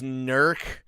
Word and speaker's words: Newark: like uh Upper Sandusky is how they spell pronounce Upper Sandusky and also like Newark is nerc down there because they're they're Hillbillies uh I